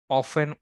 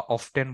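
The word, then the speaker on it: often: sales person অফেন বা অফটেন বলো, অনেক অনেক উচ্চারণ করে আমেরিকান ব্রিটিশরা, সেলস পার্সনস অফটেন বা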